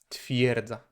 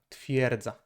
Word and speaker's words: twierdza: space or hard stop, we just combine the sounds, so it is more like y. The I, E, kind of forms into Y. Twierdza, twierdza. It's just easier to, transition from I to E that way. Twierdza.